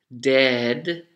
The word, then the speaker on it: dead: and debt okay so the vowel sound the e is also much longer when you have died dead as opposed to when you are when you owe people money debt very short of all